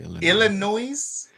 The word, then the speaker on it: Illinois: That's how you pronounce it. Illinois. That That's the uh indigenous way to say it.